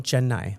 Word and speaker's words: Chennai: How do I pronounce the city that you're from? I'm from Chennai.